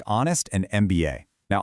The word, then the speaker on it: MBA: Similarly, MBA starts with a consonant, but phonetically you say MBA, starting with an E vowel sound.